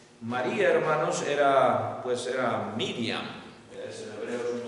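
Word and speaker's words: מרים: Este era José con la Y, así se escribe en hebreo, Yosef. Y María, hermanos, era Miriam.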